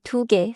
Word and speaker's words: 개: 셋째, 두 개에서 개는 세게 발음하지 않아요. In English, say 두 개 smoothly, but do not turn 개 into 개.